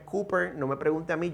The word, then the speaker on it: Cowper: Yo sé que se escribe Cowper, pero aunque se escribe así, la pronunciación correcta es Cooper.